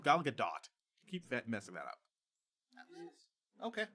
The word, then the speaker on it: Gal Gadot: Apparently it's pronounced Gal Gadot. Keep messing that up. Okay. Yeah. It is a hard T, Gal Gadot.